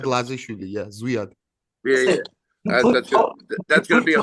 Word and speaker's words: Zviad: And then, how do you pronounce his first name? Zavad? Lazishvili. Zviad Lazishvili. Yeah, Zviad.